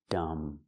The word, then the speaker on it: dumb: Whenever you see MB at the end of a word, the B is silent. Dumb.